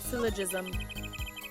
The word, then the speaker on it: syllogism: Syllogism. I said it right. Syllogism. Syllogism. Someone said hard G. It's jism, friends.